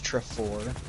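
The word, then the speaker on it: Trefor: Trevor he hated how you're supposed to properly pronounce his name which is trifor yeah that was a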